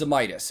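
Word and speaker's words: Zemaitis: It's pronounced Zemitis.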